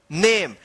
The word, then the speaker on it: name: जैसे यहां पे देख सकते हैं NAME, इसको क्या पढ़ेंगे, नेम। क्या पढ़ेंगे इसको, नेम। नामे या नेमे मत पढ़िएगा, नहीं तो आपका जो है ना गलत हो जाएगा।